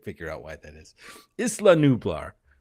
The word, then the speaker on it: Isla Nublar: out why that is isla nublar right that's how you should pronounce it islam four years after